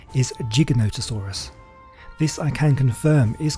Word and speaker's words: Giganotosaurus: there are a few ways people have been pronouncing it gigantasaurus is one way this is real gigantosaurus is